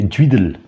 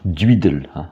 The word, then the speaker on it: Guidel: Alors la prononciation en breton actuellement c'est Duidel. C'est donc avec l'accent typique du bas vantais, donc qui peut être placé sur la syllabe initiale, donc Duidel en breton.